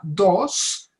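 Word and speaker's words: Dosse: un historiador francés que él se llama François Dos. Dos se escribe D-O-S-S-E, y escribió un libro que se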